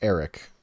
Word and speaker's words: Erik: Are you sure that was pronounced Erik? Actually, not. Yeah, it was pretty much Erik, but it was spelled with a K, so it was Erik the Red, Erik the Red.